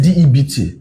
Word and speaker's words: debt: Debt, D-E-B-T, what you call debt, but B is silent, so debt.